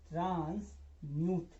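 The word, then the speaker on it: transmute: जैसे TRANS, इसको आप पढ़िए ट्रांस, और MUT को पढ़िए आप म्यूट। तो इस पूरे शब्द को आप पढ़ेंगे ट्रांस म्यूट, ट्रांस म्यूट, ट्रांस म्यूट।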